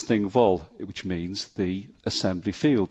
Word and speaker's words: Thingwall: be relieved to hear the thing comes from Old Norse of the same pronunciation thing which means an assembly or Parliament vole is an old norse name meaning field so thing wall is thing vol which means the assembly